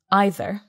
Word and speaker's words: either: Some people say either, some people say either. It's like the song. You say either, I say either, let's call the whole thing off.